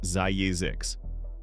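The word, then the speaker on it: Zzyzx: California is home to a town named Zizix, pronounced Zayizix.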